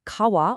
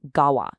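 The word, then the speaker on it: 川: Its anomi is sen, and its kunomi is kawa or gawa.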